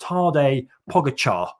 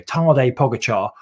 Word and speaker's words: Tadej Pogačar: And the young guy, 21-year-old Tadej Pogačar, I think that's how you say his name anyway, Tadej Pogačar, he was in second place.